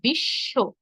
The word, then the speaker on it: বিশ্ব: আমরা কেউই এখানে বিশ্ব বলি না। আমরা বলি কি? বিশ্ব এইযে বিশ্ব বলছেন আপনি স কয়বার বলছেন? দুইবার বলছেন এই দুইবার কেন? শব্দের শেষে ব যুক্ত থাকার কারণে যে ধ্বনির সঙ্গে ব যুক্ত হয়েছে আমরা সেই ধ্বনিকে দুইবার করে উচ্চারণ করব। এজন্য আমরা বলব বিশ্ব।